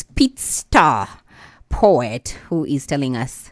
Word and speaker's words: Peetstar: It's Peetstar. double E.